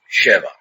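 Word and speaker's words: שבוע: or of seven years both in the singular are pronounced Sheva the plural weeks is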